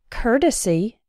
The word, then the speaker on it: courtesy: but in the words courtesy and courteous that same o Ur has an R sound as in the words N hurt and curtain courtesy courteous this R sound is